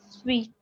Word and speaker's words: suite: I will pronounce it. Sweet. Yes, it will be sweet.